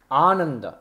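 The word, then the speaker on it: आनन्द: the a in aimsa no no no Ananda this is a means aant complete Joy this is not a negation of joy aimsa is a a short a a himsa and in Ananda it is Ananda that means complete Joy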